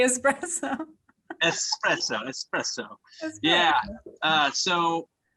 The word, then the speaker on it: espresso: couple espresso machines yes i had to pronounce it right because my wife always bags on me because i talk too fast and i say expresso no nicola you better say espresso espresso espresso yeah uh